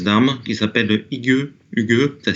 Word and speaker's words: Hygge: Hygge, ça s'écrit Hy-2-G-E.